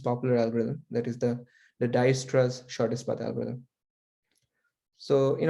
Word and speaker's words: Dijkstra: So this is pronounced probably as Dijkstra's. J is sort of silent.